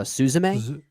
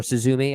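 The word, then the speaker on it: すずめ: the anime film uh susame yeah uh or suzumi I believe it's actually how it's pronounced I didn't love it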